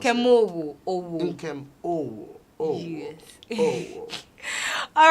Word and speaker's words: Nkem Owoh: Well, Nkem, how do I pronounce Nkem it? Owoh. Nkem Owoh.